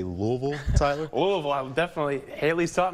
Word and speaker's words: Louisville: in here from Louisville Kentucky can you say Louisville Tyler Louisville definitely Haley's taught me how to pronounce that one that's for sure so we